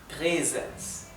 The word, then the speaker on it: Präsens: La A-Umlaut se pronuncia ¿sí? Por eso esto se pronuncia Präsens.